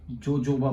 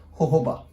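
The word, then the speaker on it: jojoba: Alternative was obtained by I'm sorry, obtained from जोजोबा plant. ठीक है. सी Indian English में आप जोजोबा बोलते हो, अगर आप ब्रिटिश इंग्लिश की बात करोगे तो दिस इज प्रोनाउंस एज होहोबा.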